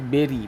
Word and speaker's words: bury: এ whole dug টু বেরি, দেখো উচ্চারণ বলছি বেরি, BURY, আ ডেড বডি আন্ডার